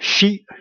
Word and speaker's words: x: And X is also another man-made symbol, which pronounced like she, like sheet, like shop.